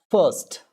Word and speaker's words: first: Then first, first. It's not first. It's not first. R is actually silent.